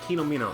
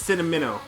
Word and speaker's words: Cinnamino: Or is it Kenomino? Cinnomino. Oh, it's Cinnamino. Like Cinnamon. Got to remember that.